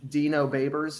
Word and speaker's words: Dino Babers: I think it's Dino Babers is how you pronounce his name.